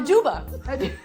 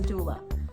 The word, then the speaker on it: doula: A duba.